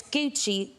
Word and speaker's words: Gucci: creations no this is I think it's pronounced Gucci oh yeah my mother it's Gucci and she's like what is that and I say it's hoochie but longer it looks good thank